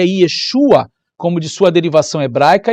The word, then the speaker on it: Yeshua: verdadeiro nome do Messias o verdadeiro nome se pronuncia Yeshua Yeshua ó a Yeshua se você não consegue pronunciar